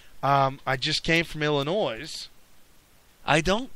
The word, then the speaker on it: Illinois: uh Chicago resides in what is the name of that state the S is silent no no I didn't